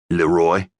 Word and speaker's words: Leroy: "Leroy," he said, accenting the second syllable of his name.